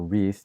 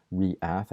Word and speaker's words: Reath: young Jedi in training named r or reath depending on how you want to pronounce it I like to say reath as in two syllables cuz wreath just sounds like wreath anyway anyways um in